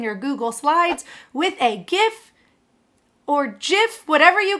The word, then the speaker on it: GIF: GIF is pronounced GIF with the G sound.